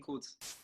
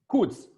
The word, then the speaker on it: Kutz: Petersburg, Kutz or Kotz. Help me out how to pronounce that. Dada. Dada? Yeah, it's Kutz. Kutz. Yep.